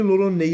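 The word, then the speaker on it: L'Olonnais: quando seu sobrenome Lolonei é pronunciado em japonês, ele fica com um som bem parecido com Roronoa, exatamente como é o nome de Zoro.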